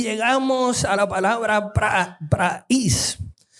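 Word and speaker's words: πραεῖς: Y llegamos a la palabra praís. Se escribe praeis, pero se pronuncia praís.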